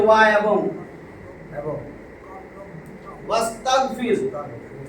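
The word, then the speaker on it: وَاسْتَغْفِرْ: এই যে ওয়া এবং এবং ওয়াস্তাগফির, এটা কিন্তু এই আলিফ না, এটা হলো ইস্তেগফারের আলিফ। ইস্তেগফার, এই যে ইস্তেগফার যে লেখে, ইস্তেগফার, এটাকে বলে হামজায়ে ওয়াসল। যখন এর সামনে কোনো শব্দ আসবে তখন এইটা লেখায় আসে, পড়ায় আসে না, তাতে এর কোনো জের জবর কিছু থাকে না।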